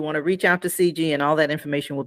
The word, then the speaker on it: Cijy: but the way I'm okay I'm pronouncing it correctly but it's spelled c i JY okay yeah a bit confusing I know I know and yeah it's CG yeah yeah so everyone